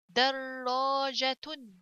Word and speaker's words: دراجة: Next one دال فتحة دا را تشديد فتحة will be two را, the first one second and the second one with فتحة. So در and the alif here, so this is a letter of mad, so I have to stretch it. در جيم فتحة جا. دراجة تاء ضمتان تن. دراجة. دراجة.